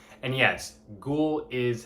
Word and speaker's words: Ggu:ll: band ghoul off of consoling sounds and yes ghoul is how you pronounce this band name it's very creatively spelled